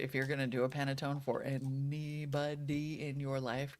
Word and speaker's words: panettone: Panettone, not Pantone. Totally two different.